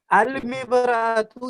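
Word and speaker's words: المرأة: ठीक है, जी जी तो अल मिबरातु यानी हमजा लाम जबर अल, यानी अलिफ और लाम दोनों प्रोनाउंस हो रहा ना, तलफ्फुज हो रहा है अलिफ जी लाम।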